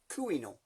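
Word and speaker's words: Couesnon: It's spelt Corsenon, but in French, Gallic, Breton, it's pronounced Camino.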